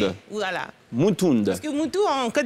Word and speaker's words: Moutound: Est-ce qu'on prononçait le D ou pas? Ça arrive souvent. Déborah D'accord. Moutound, on va Moutound. Y arriver. Voilà. Moutound.